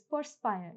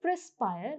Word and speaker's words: perspire: Moving on, the next word is perspire. Now focus on the spelling here. The word is not perspire, the word is perspire.